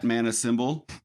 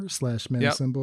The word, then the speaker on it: Manacymbal: symbol SYMBAL, and at Manacymbal. CYMBAL. Oh, did I say it wrong? Symbol like the instrument, right. Like a drummer would play.